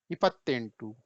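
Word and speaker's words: ಎಪ್ಪತ್ತೆಂಟು: इसका प्रोनाउंसिएशन कैसे होगा, बोलेंगे कैसे इसको? इपत्तेंटू, देखिए इपत्तेंटू, ये देखिए कैसे पढ़ेंगे?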